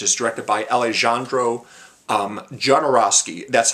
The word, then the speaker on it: Jodorowsky: holy mountain which is directed by alejandro um jodorowsky that's how you say his name yes um